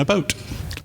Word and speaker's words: about: North Carolina, says that folks in this area pronounce the words out and about as oat and a boat.